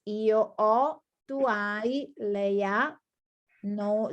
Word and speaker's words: ho: Don't worry, we are not studying this verb now, but in this case, the H is silent. So is instead of io, ho, I have, it's io ho, tu hai, lei ha, no, loro hanno.